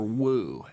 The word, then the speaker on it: Wu: One of the few deserate letters that looks like the corresponding Latin letter is W or woo as it's known in desperate.